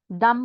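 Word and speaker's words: dumb: Climb, climb का B silent होता है बच्चों, ठीक है, जिस तरह थम का बी साइलेंट है, दम का बी साइलेंट है।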